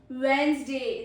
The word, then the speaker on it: Wednesday: Then is Wednesday. This is the main thing that you pronounce wrong. Wednesday, not Wednesday. We do not pronounce the D in it.